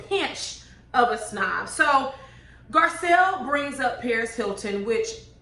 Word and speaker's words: Garcelle: But for you know, for listening purposes, because I had 2 people comment, her name is Garcelle, it's not Garcelle.